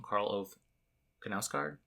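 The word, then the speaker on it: Karl Ove Knausgård: karl ove kanasgard as you say his name karl oath kanauskaard is that right but this is a standalone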